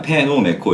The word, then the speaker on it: 페노메코: 원래 이제 막 영어 이제 원 사람들은 피노메코 막 이렇게 한단 말이에요. 근데 원래 그게 이제 일본식으로는 그냥 페노메코 이렇게 발음 기호가 그렇게.